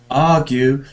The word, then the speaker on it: argue: Argue. No, that's R is really stressed, isn't it? Argue.